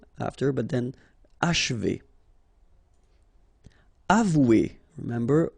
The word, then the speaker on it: achever: Achever. Okay, and then if you want to pronounce it the way French people will do, so don't insist too much on this and you will get H.